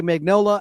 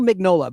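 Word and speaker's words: Mignola: Mike Manola, the G might be silent. His last name is spelled like filet minan. Uh m i g n o l a. Mike Magnolola. I'll just say Magnola and Mola. I think it's Magnola.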